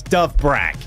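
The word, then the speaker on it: Dovbyk: First comment is actually the pronunciation of one of our strikers, which is actually quite simple. It is Dove Brag.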